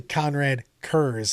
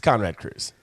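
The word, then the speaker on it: Konrad Curze: at in the thing, it's actually Conrad Curze, and I've been saying it wrong for 30 years. It's Conrad Curze.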